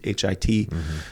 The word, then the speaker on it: Hit: which was actually in in a town called pronounced Heat hit uh which is along the Euphrates River you